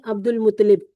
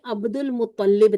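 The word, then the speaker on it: عبد المطلب: अब्दुल मुतलिब यह गलत है। ठीक है? प्रोनाउंसिएशन को सही करें। अब्दुल मुत्तलिब था।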